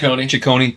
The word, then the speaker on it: Ciccone: Ciccone.